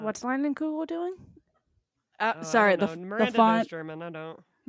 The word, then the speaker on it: Leinenkugel: Lugels? Leinenkugel. Oh, it's a K! Thank you. I think. I don't know. font- Wait, Maybe what's not. what's Leinenkugel doing?